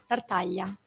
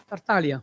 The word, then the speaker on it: Tartaglia: The closest sound in English of the GL sound is the double L of million. Okay. Tartaglia. Tartaglia.